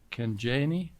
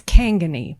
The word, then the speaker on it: Kangani: Michigan, presented by Kanjani. Did I pronounce that right? Good evening. It's Kangani. Like Kangani.